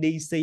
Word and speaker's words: DC: có cái quán tính mình nhìn cái chữ DC mình đọc là DJ DJ nhưng không quý vị nhớ giùm em âm vị chỉ có một cách đọc này là y này là si bình thường và chữ y DC DC dấu nhấn 2 đặt trước chữ đi cho nên mình nhấn vào chữ đi đọc đi có khác với